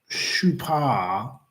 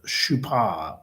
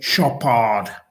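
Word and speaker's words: Chopard: Now, in which year was the Swiss watch and jewelry manufacturer Shupar as it is correctly pronounced founded. Shupar. Most people will say Shop.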